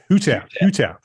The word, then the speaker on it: Hutaf: Tell me how to say it. Hutaf or Hutaf? Make sure I get it right. Hutaf. Got it.